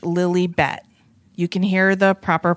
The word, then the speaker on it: Lilibet: no I know but I read an article that said it's pronounced Lily bet well because they want